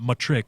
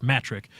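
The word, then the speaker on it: Mattrick: on the pronoun pronunciation it's not matric it's metric Don mattress came out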